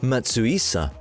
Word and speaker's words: Matsuhisa: Nobuyuki Matsuhisa (pronounced Matssu-issa), his full name, is a great chef who is particularly appreciated for his Japanese cuisine with Peruvian accents.